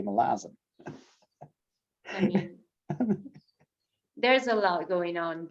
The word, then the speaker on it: Malazan: they never be safe they always say malazar and apparently that is not how you say it because you say melasm there's a lot going